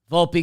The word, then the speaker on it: Volpe: gets it to Vault pronounce the E Volpe gets to throw to